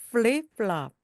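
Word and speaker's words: flip-flop: 윗니로 아랫입술을 살짝 물듯이 프 하면서 플립플롭, 플립플롭입니다.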